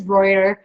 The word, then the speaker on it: Reuter: yeah no it's okay nobody pronounced is my last name right they called me ruder so I'm always like it's brighter haha you know what